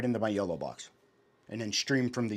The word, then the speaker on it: YOLO box: The yolo box.